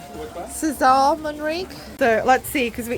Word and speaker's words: César Manrique: Is it called Cesar or Kessa Monri? Oscar, how do you pronounce his name? Cesar Monri.